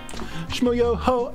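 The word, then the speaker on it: Schmoyoho: Shmoyoho, accent on the O.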